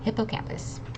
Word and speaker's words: hippocampus: have to do is split this up into the hippo which is animal and campus like a college campus okay so hippo campus that second last word